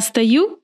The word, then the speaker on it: стою: Pay attention to where the accent is. I pronounce O as A. Стою.